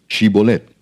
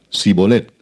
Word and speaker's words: Shibolet: Si él respondía, "No, entonces le decían, "Ahora pues di Shibolet." Y él decía sibolet porque no podía pronunciarlo correctamente.